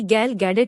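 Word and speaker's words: Gal Gadot: ही देखनी है हालांकि वजह वहां नहीं बल्कि गाल गैडोट थी जो वंडर वूमेन की तरह आर्स से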